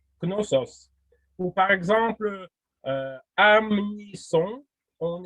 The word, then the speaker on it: Knossos: Par exemple, les noms comme Knossos, en alphabet syllabaire, on aurait écrit Konoso. On ne veut pas écrire Knosso, on écrit Konoso, mais ça se prononce Knossos.